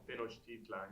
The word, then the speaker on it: Tenochtitlan: Tenochtitlan, you got it right. No, but how do Anglos pronounce it? I think it's the same actually. Do they? I hear people like Tenochtitlan. Like they pronounce the T like Talan, but Yeah.